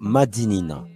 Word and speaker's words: Madinina: Par l'oral, dans la langue créole, nous avons conservé la bonne prononciation qui est donc Madinina.